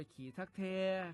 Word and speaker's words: ขี้ทักแท่: กัน แล้ว อ่าน ว่า ขี้ ทัก แท ครับ ขี้ ทัก แท นี่